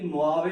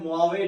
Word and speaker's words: Mojave: जिसे कहते हैं जी मोआवे डेजर्ट। लिखने में थोड़ा आपको ये भी एक तरह से नजर, लिखने में कुछ और है लेकिन इसकी एब्रिविएशन क्या है, मोआवे डेजर्ट।